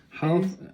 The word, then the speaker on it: half: He dropped letter L. Half an hour. Half an hour. Half an hour. Yes. Okay. I understand now. Probably an hour. Yeah, the letter L is not pronounced here.